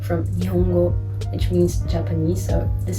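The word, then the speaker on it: 日本: And in this case it's Nihon, but for example in different contexts it can also be pronounced like Nippon.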